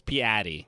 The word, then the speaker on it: Piatti: It's Piatti. That's what he says. It's bad. I don't like it. It's so different from Piatti. Yeah. And that's how you pronounce it it's in his language, in the language that it originated from, in Italian, and honestly, very easily in English.